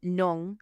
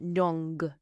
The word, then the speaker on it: non: And you pronounce it with a nasal sound on the end. Just like when we had bong, which was good. If you imagine a g on the end of nong, so you're pronouncing it